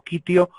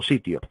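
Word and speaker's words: Citium: En latín es Quitium, así que probablemente sea pronunciado como Quitio o Sitio.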